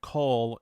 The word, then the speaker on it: cull: Yeah, and for people that don't know that word coal, it's spelled Cull, and it Mm.